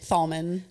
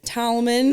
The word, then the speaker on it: Thalman: I'm like, Thalman. It's Thalman, like tall Thalman.